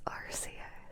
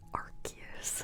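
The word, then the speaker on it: Arceus: It's Arus. I will fight you if you say Aruse.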